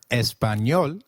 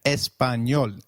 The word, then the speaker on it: Español: The letter A is pronounced as A, as in father. Did you notice the letter ñ in Español? This letter is peculiar to Spanish. It is pronounced as ni, like in canyon.